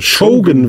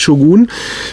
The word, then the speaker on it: Shogun: wie ich gelernt habe Shogun wird das ausgesprochen nicht Shogun und ja es ist